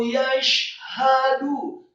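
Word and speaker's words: يَشْهَدُ: Wallahu yashhadu, kata yashhadu, syaknya tafkhim tebal, tetapi membaca huruf syak dengan bibir yang tidak ditutup, tidak yashhadu, tetapi wallahu yashhadu, haknya tafkhim atau tebal satu harokat fathah, kemudian dalnya marfu atau dhamma satu harokat.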